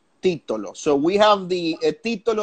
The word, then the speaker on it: Titolo: wine I have that peep-toe low do you pronounce it Tito low or Tito low T : Tito low so we have the title of 2016 oh